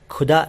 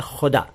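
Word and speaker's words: ख़ुदा: यहाँ ये बता दूं सबसे पहले कि आप खुदा शब्द का उच्चारण खुदा न करें। यह है खुदा, खुदा। और ऐसे ही कुदरत, कुदरत नहीं, कुदरत, कुदरत, खुदा, कुदरत। इन दो शब्दों की प्रैक्टिस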